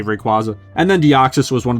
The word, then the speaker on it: Rayquaza: Plus that epic final battle with her and Rayquaza, or I'm sorry, Rayquaza as it's supposed to be pronounced, but I'm always just gonna say Rayquaza.